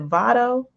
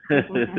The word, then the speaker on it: Vado: Is it Vado? Am I saying that right? Yes, you got it. Vato. Vado.